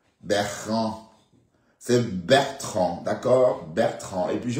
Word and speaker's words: Bertrand: Elle dit qu'elle vient pour Beran. Bertrand c'est Bertrand.